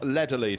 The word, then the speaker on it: Lederle: Spelt to me Neville Ledderle, but Neville Lederley.